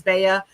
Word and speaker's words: BA: BA, some people say it is Baya. I actually asked Joe, who's the owner, his last name's BA. I'm like, okay, dude, how do you say your name? Because I don't know. Yeah, nobody knows. So that's like that is the correct pronunciation. BA.